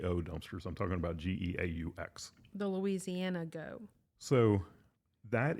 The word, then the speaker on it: geaux: dumpsters I'm talking about geaux the Louisiana go so that is the battlecry for LSU would be go Tigers but it's specifically G Au X you don't say it any different but if you spell